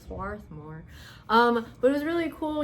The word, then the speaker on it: Swarthmore: Is that how you say it? Swarthmore? Swarthmore? Right, Swarthmore.